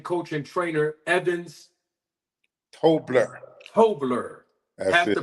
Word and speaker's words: Tobler: strength and conditioning coach and trainer Evans tobler tobler have to pronounce it correctly absolutely thank you for being